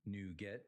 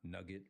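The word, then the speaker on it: NuGet: Now, it's pronounced new get, not nugget like chicken nugget.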